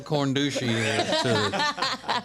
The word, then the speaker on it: corndushi: you're being a little corn douchey Condition it's c-o-r-n-d-u-s-h-i how else did you pronounce it no that's right it's like corn dog and Sushi it's not a good